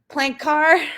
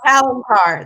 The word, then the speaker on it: Palancar: Another dive site that's famous is the plank car. Am I saying that right? I always ruin these. Palancar. That's actually one of my Palancar.